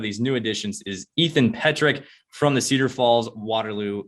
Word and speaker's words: Petrik: My last name is Petrik, so it's the first time on, so I know what it's Petrik.